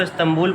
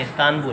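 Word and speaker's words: İstanbul: अच्छा, ये हम उसको इस्तांबुल पढ़ते हैं, ये इस्तांबुल नहीं है, ये इस्तानबुल है।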